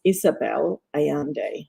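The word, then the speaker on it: Isabel Allende: to michelle for bringing it up and it's pronounced isabelle ayande ayande i practiced that a couple of times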